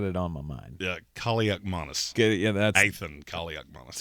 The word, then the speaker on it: Kaliakmanis: How do you say his name? Kaliakmanis. Yeah, there you go. Yes, It's the Christmas season. I got it on my mind. Yeah, Kaliakmanis.